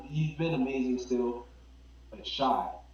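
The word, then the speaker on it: Shai: been amazing still but shy I mean Shay yeah I just call him SGA cuz I mean I people pronounce it different ways that he needs to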